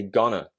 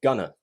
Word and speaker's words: Ghana: we say it differently so Americans say Ghana Ghana but we say gonna so that's the difference between America and British pronunciation of Ghana and also gotta so